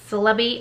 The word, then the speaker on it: Celebi: yeah this is celebi celebi i don't know how you actually pronounce it to me i say it like celery but with a b instead of an r so not sure but